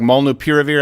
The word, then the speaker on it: molnupiravir: Could it be that they ivermectin and this new drug, molnupiravir, I think is how it's pronounced?